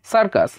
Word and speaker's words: circus: দেখুন এখানে সির পরে যেহেতু আই রয়েছে, সেই ক্ষেত্রে প্রথম সির উচ্চারণটা কিন্তু স এর মতো হলো। ঠিক পরে দেখুন CUS, এটা কিন্তু সির পরে ইউ রয়েছে, মানে ই বা আই অথবা ও এর মধ্যে কেউ নেই, তাই এখানে সির উচ্চারণটা কিন্তু ক এর মতো হয়ে সার্কাস হলো। এবার দেখুন CYBER, ও সির